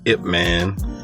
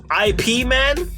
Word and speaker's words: Ip Man: Donnie Yen was Ip Man in previous Ip Man movies. I don't know if you saw Ip Man. Yeah, he was IP Man? Well, they say his name is Ip Man.